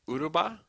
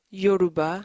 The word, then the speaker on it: Yoruba: So you can speak Uruba? Yoruba.